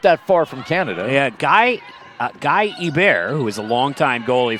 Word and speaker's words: Hebert: His actual pronunciation of his name was Guy Herbert. But he thought that didn't nearly sound hockey enough, so he went by Guy Hebert for his entire career.